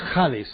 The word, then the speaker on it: Hades: La pregunta, la pronunciación correcta es Hades. Hades, sí, bueno, sí, perfecto. joven. Le voy a decir por qué. Porque en griego las vocales llevan dos comitas que quieren decir espíritus.